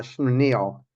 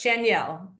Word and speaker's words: Schaniel: Vietnam today please welcome our guest Mandy uh schil did I pronounce your last name correctly you're so close chenelle difficult thank you thank you very much for